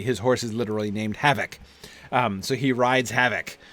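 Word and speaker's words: Hafoc: Because a single F in the middle of a word like that in Anglo-Saxon would be pronounced voiced as a V. So H-A-F-O-C. His horse is literally named Havoc.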